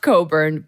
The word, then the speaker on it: Cockburn: My family name is actually Coburn, but it's pronounced Coburn, but it's spelled, and I'm going to I weirdly have a visual for this.